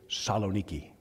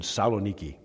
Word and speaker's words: Saloniki: They say Saloniki. They don't say that first part, so I'm going to say it like the natives do. In Saloniki.